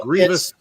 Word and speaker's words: Grievous: Grievous. It's Grievous. I thought it was Grievous, but he pronounced it in his own little video that I watched, Grievous.